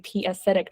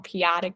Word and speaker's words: p-adic: with my friend, and I was like saying p-acidic numbers. Okay. Okay. I hopefully did not pronounce that wrong. P-adic numbers. Yeah, that's right.